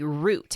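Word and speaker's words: Rute: that he carries a root have you ever heard of a root no spell it R U T E okay what is that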